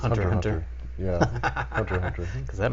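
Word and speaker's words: Hunter × Hunter: anime lovers will uh it's not Hunter x Hunter the x is silent I was been previously corrected on this so it's just Hunter Hunter yeah Hunter Hunter cuz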